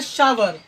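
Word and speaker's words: sour: इसको पढ़ा जाता है, क्या आप शोर पढ़ते हैं? यदि शोर पढ़ते हैं तो आप गलत पढ़ते हैं।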